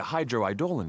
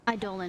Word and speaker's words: Eidolon: We need a hydroidolin to power it up first. Eidolon is how you say it.